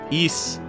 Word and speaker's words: Ys: Japan not dae-su likewise East is the correct pronunciation of the word but what about the